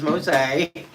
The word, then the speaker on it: Mose: Mose, and I asked him how to pronounce his name, so it is Mose, and had a lovely talk.